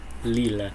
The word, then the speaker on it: Lille: Lille is Lille. how There you we say Lille. the name of the city. Lille.